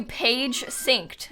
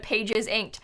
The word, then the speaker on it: Pages Inked: be i'm sorry people call you page synced instead of pages inked well you even have